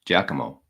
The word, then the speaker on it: Giacomo: Okay, so I thought Giacomo or Giacomo. I said Guacamo. Mugatu says Giacomo, and the Giacomo himself says it's pronounced like Giacomo.